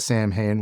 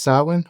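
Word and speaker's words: Samhain: And I'm going to call it Sam Hayne. Why? Even though it's pronounced sin.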